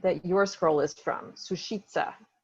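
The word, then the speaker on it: Sušice: your scroll is from sushitsa or susice is the way i pronounce it because i speak italian but i looked it up and it's sushi sushi there are actually ten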